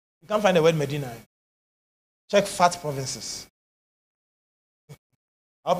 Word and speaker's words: Medina: find it Medina m-e-d-i-n-e I didn't say Madina I said Medina I know someone pronouncing like that Medina but m-e-d-i-n-a Medina Medina hallelujah oh Clap Your Hands